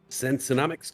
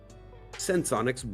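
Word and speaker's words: Senseonics: Sensonomics cruising hardcore right now. Did I say Sensonomics? Dang it, I said it wrong again. Sensonics running up 12.7%.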